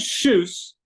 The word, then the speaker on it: Kjus: this Luke pronounce it shes sh shes just like shoes but with a SS at the end but it's pronounced KJ